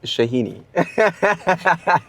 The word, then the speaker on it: Shahini: mispronounced your surname. What did I say? It's Shahini.